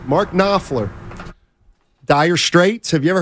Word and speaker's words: Knopfler: Mark Knopfler? Correct. Mark Knopfler. Dire Straits. Have you ever heard of Dire Straits? Starts with a K, though, so that K, silent K, threw me off.